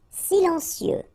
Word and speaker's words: silencieux: Silencieux. Final X not pronounced, okay? This part here will be pronounced like cieux, okay? Then you get silencieux. Silencieux.